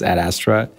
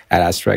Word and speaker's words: Ad Astra: mean okay and for for the record the pronunciation is at Astra at Astra guys try saying a couple of times so I should be looking this way right the camera so at Astra it comes from Latin it it means to